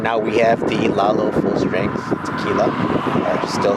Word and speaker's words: Lalo: How do you pronounce that? Lalo.